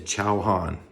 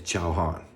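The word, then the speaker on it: チャーハン: fried rice in Japan is ciao Han now that's easy to remember because ciao is like food and Han it's just Han you know Chauhan fried rice so if you come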